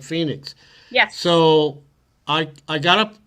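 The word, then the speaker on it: Fenix: And the Garmin, am I pronouncing it correct? Phoenix 6? Phoenix 6. Oh, Phoenix 6? Okay, like Phoenix.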